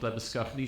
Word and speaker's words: Labuschagne: my side, Labuschagne, still Labuschagne, although I've been living in Cape Town for a while. I see some of my namesakes in Australia have changed the way we pronounce our surname, but still the traditional way.